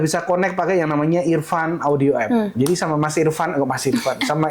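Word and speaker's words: EarFun: Ya, bacanya Irfan. tetap saja Irfan.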